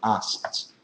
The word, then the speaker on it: asked: less okay asked anyway in English when you have three consonants together you can take out the middle one so you can pronounce something like that as asked so that K is kind of optional okay I mean don't